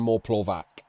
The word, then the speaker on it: Moreplovac: With a TS, like pronunciation? What's the bit at the end? Okay, I knew it was something different. That it wasn't Moreplovac. We don't use a hard C around here.